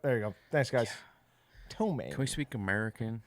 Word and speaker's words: ptomaine: Is the The P is silent. silent? Yep. There you go. Thanks, guys. Ptomaine.